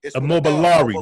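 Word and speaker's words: Immobiliarity: I can hardly ever pronounce that word. Immobiliari. Immobiliari.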